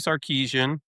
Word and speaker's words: Sarkisian: But Steve Sarkisian, I said it right, boys.